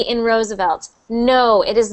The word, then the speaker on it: Roosevelt: and Roosevelt that V so somebody asked in the chat if the V sound is the same as the W sound it is not it is not they are two different sounds W's for everyone listening